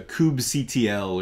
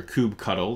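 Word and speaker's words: kubectl: users through a CLI so there's a Kubb CTL or Kubb cuddle there's different ways to pronounce it and we'll see that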